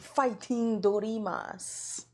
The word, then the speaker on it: Fighting Dreamers: Speaking of which, upcoming stream with Jada Goddess, our special guest tonight, Fighting Dreamers for your American audience. But what is the accurate pronunciation? Fighting Dorimas. Celebration of Japanese fighting games.